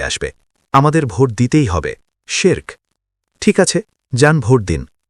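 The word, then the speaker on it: شرك: লক্ষ্য করুন আমি শব্দটি কিভাবে উচ্চারণ করছি। মালয়বাসীরা আমার কথা শুনুন। শব্দটির সঠিক উচ্চারণ হলো শিরক। এটি এক সিলেবেল বা এক শব্দাংশের। একে দুই ভাগে ভাগ করবেন না।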